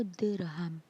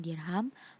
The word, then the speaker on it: dirham: Berikut ini adalah dirham atau dirham. Biasa diucapkan dengan dirham, adalah mata uang yang secara resmi digunakan dalam perdagangan di Kesultanan Samudra Pasai.